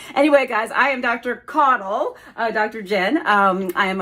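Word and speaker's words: Caudle: and the final word that I hear people mispronounce it's not a health word but it's my word it's my name it's coddle and you'll never believe or maybe you will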